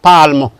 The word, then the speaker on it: palm: Can be AL, as you have in palm, your palm. It's not palm, it is palm because the L is silent.